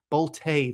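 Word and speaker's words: Bolte: First, we have outfielder Henry Boltay. You'd think it'd be pronounced Bolt, it's b o l t e, but I looked it up on Baseball-Reference just to make sure. Boltay, very fancy there from Henry.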